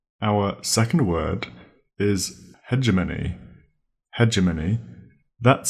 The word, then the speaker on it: hegemony: Hegemony. That's spelled H-E-G-E, hedger, M-O-N-Y, money.